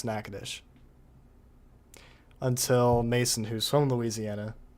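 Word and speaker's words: Natchitoches: For the longest time, I did not know how to pronounce Nacadesh until Mason, who's from Louisiana, told me. I think even I think even Reed Timmer also struggled to pronounce Nacadesh.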